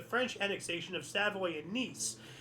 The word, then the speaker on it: Nice: annexation of Savo and niece it's it's pronounced niece I believe you know like the female version of nephew so not nice but I put that